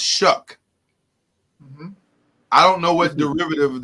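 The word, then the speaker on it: Shough: unique spelling Charlie is spelled s h o u g h yeah and it's pronounced shuck I don't know what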